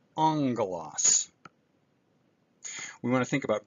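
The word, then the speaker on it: ἄγγελος: sound as in get, but when it's combined with kappa here, ki, or xi, or another gamma, it's pronounced with the n sound, as in angelos.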